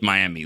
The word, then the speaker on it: Miami: you lived at Mi it's not Miami it spelled like Miami but it's miam very very northeast corner